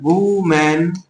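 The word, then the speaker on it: woman: इसको हम लोग पढ़ते हैं वुमेन और इसको पढ़ते हैं हम लोग वीमेन। ठीक है? शुद्ध उच्चारण जान लीजिए।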